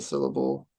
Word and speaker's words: syllable: So when I say syllable, the syll there is what I'm stressing. I say syllable, not syllable or syllable. I say syllable. So the syll sound gets the stress.